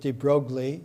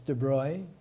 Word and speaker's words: de Broglie: of the attendees louie i used to pronounce it de broglie it's de bruy prince louis de broy